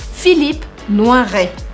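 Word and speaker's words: Philippe Noiret: fala o hm que o t no final a gente não pronuncia então fica filipe no arraiá lembrando também que o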